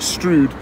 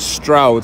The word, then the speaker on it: Stroud: just started a video i called it strewed but um yeah i think you pronounce it stroud so i don't [